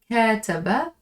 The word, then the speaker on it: كاتب: كاتب يكاتب. It rhymes with فاعل.